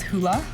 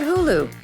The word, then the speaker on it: Hulu: People stopped pronouncing it as hula, which was a nice change. Now all of America knew about Hulu, which was good, considering the very next year the subscription service would go live.